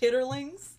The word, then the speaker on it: chitterlings: delicious it's actually do you know it's actually pronounced chitterlings if you all can see the way